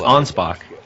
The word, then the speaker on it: Anspach: c so it's pronounced onpo just like you spelled it but then it's German so they got to change the O's into A's and the K is into ch's you know how it